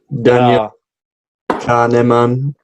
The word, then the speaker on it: Kahneman: Daniel Kahneman. I reckon you've absolutely nailed it there. I don't know if he. Yeah. Kahneman.